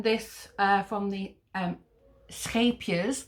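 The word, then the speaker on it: Scheepjes: uh from the um scapias that's the correct way to pronounce it scapia's uh katona uh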